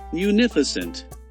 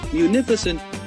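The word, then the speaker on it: munificent: The word municent is typically pronounced as municent. Detailed breakdown. Mu. This sounds like mayu. Nif. The syllable with primary stress. It rhymes with if but with an n at the start.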